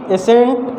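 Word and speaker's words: ascent: एसेंट ऐसा word है जिसमें सी लेटर क्या है, साइलेंट है।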